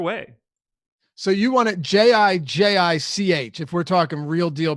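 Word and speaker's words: Žižić: be like, oh, that's Zizic or Zizic. Nobody's bringing J's into this. Well, if they one of them should at least say Zizic, yes, because we know the IC is the ICH.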